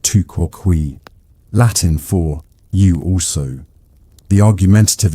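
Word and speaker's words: tu quoque: You've just deployed the two quay fallacy pronounced touquin for you.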